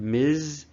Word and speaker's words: Ms: but if you use the term MS with z sound at the end Miz then you're going to